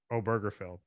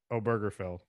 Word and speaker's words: Obergefell: Obergefell. Is it the G? You pronounce the G in that? Obergefell.